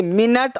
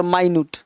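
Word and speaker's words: minute: दिया तो झुकना हो जाएगा, बाऊ मतलब झुकना, स्पेलिंग सेम है, पढ़ने में साउंड में अंतर हो गया, है ना। जैसे मिनट और माइन्यूट, मिनट का मतलब समय की इकाई, और माइन्यूट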